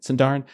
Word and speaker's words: Sindarin: How do you pronounce it again? Sindarin.